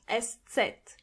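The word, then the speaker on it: ß: language really special is the letter EST set which could be also described as two s's together s set the sound it makes is just s but you have to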